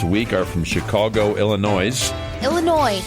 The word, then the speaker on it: Illinois: our from Chicago Illinois Illinois it's the S is silent there's no noise in Illinois where all the car